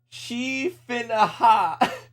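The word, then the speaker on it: Sidhe Finnachaid: Sid he Finachade being pronounced she finna ha.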